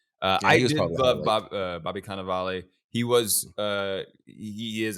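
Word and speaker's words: Cannavale: say yeah Bobby kaval I have to say it like that every time K ofal that's the thing you look at you might be confused on how to say it but you just say it in an Italian way and then says itself I love Bobby canaval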